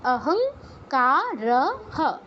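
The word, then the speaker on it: অহংকারঃ: হবে না হই থাকবে তাহলে উচ্চারণটি কি অহং কারহ অহংকারহ র কিন্তু ফুল বলতে হবে অহংকার বললে হবে না কারণ র এর নিচে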